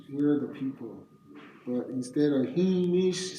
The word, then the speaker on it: Jemez: And Jemez is just another word for this other word is it's pronounced Hemish.